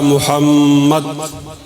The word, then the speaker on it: محمد: صلی علی محمد، بولیے۔ لفظ محمد کا صحیح تلفظ یہ ہے کہ دوسرے میم پر ٹھہرا جائے۔ بولیے اللہم صلی علی محمد، اونچی آوازیں، مجمع تو